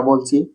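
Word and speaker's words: ب: যাব বা হরফের মত একসাথে মিলে ছোট করে একটা আওয়াজ বা বের হয় আমরা দুইটা টু একত্রিত করি বা বা আমার টোটা দিকে লক্ষ্য রাখতে পারেন বা বা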